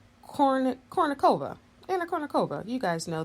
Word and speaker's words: Kournikova: Kournikova.